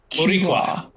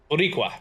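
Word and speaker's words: Boricua: It's It's like it would be more like borua but you it's just pronounced faster. Burqua. Buriqua.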